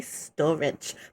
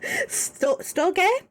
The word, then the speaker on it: storge: wrong but it's as i want to say storage but it's not it's a storge uh familiar love love